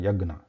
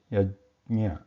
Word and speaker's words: यज्ञ: also pronounce it as yagya, simple yagya. So all these variations are not actually correct, because we have a j and nya there.